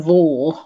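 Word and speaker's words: Vaux: plot had succeeded but a lady called ann vaughal i'm i'm sure that's how he pronounces belt v-a-u-x she well she was played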